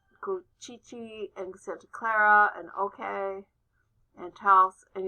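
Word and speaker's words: Ohkay: and santa clara and okay and house and yes that's pronounced okay those are all pueblos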